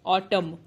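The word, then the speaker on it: autumn: ऑटम, एम के बाद एन है इसलिए एन साइलेंट हो जाएगा, एम तक ही वर्ड की साउंड आएगी।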